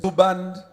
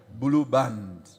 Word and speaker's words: Blue Band: Blue band. Please notice the pronunciation is the same as the other thing we use for our bread. Blue band.